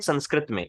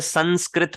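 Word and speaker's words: संस्कृतम्: जैसे संस्कृत पढ़ते हैं हम इसे, लेकिन एक्चुअल में अगर आप ध्यान से इसे रियल प्रोनाउंसिएशन इसके सुनोगे, वो है संस्कृत। हल्का सा म है, संस्कृत, संस्कृतम। ये चीज क्लियर हुई सबको?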